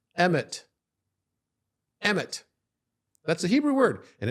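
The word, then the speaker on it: אמת: water but together Al if mem Tav is pronounced emit emit EMT that's a Hebrew word and it means truth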